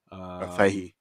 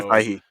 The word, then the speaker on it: Feige: And I always pronounce his last name correctly. Kevin, is it Feige? Feige. For the MCU, Yep. right? Kevin Feige.